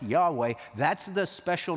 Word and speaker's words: Yahweh: can come up with is YH wh is Yahweh now about the time of the Reformation in